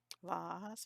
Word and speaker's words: vase: the blue from the vase vas vase how do you say it I was always I was taught as vas so that's what I'm used to the flower container